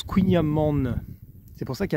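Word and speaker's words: kouign-amann: en fait se prononce couigna man c'est pour ça qu'il y a de haine en fait c'est que il amant et en fait on prononce le N de fin donc c'est kouign amande donc voilà vous le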